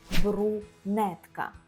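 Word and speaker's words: brunetka: я шатенка і брюнетка польською це брунетка брунетка немає ю а є у брунетка Так є з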